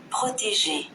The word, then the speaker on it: protégé: So when we use the word protege, spell Papa, Romeo, Oscar, Tango, spell Papa, Romeo, Papa, Romeo, S, Oscar, Tango, Echo, Golf, Echo. Pronounce as protégé.